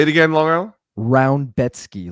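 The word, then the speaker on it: Rębecki: Rebecki? So it's say it again, Long Island? Roundbetsky, like almost like the word ROUND in the front.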